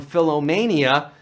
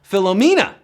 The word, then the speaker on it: Philomena: of the film that he was suffering from Philomania. Well, that's how Leonardo DiCaprio pronounced the phenomenal Philomena at the 71st Golden Globes, and we're down to 24.